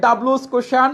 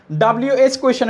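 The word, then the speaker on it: WH question: আচ্ছা, সুন্দর করে বুঝিয়ে দিয়েছেন স্যারের ডাব্লুস কোশ্চান। আচ্ছা নূপুর, তোমার উচ্চারণটা একটু ঠিকঠাক করতে হবে, ডাব্লিউএস কোয়েশ্চেন এটা।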